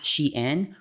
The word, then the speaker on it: SHEIN: brought to a fake Shin Factory in order to have these influencers put out unknowing a propaganda due to their desperation of wanting to be included and seen Shin pronounced Xi'an flew a group of